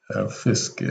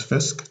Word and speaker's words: Fisk: Fisk sounds like frisk, doesn't it?